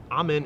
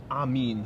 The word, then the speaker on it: Amin: interesting tweet dante smith amen is pronounced amin so i mean better late than never we've been pronouncing it wrong all tournament but thanks for the correction